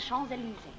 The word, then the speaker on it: Champs-Élysées: It's the Champs-Élysées. Did I pronounce that nicely?